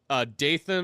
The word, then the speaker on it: Dathan: I keep wanting to mispronounce that as like Nathan. Dathan.